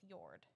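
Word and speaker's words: Jord: J-O-R-D is pronounced Yord.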